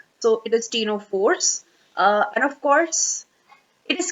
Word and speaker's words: Ctenophores: must have seen that it is spelled with a C, but we are pronouncing it as the T. So the C remains silent, like in case of the Cnidaria. So it is ctenophores.